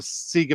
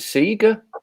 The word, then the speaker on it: Sega: i never knew that you pronounced it seeger you don't it's sega he pronounced it sega